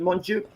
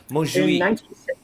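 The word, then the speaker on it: Montjuïc: Is that how you pronounce it? Montjuic? Montjuic.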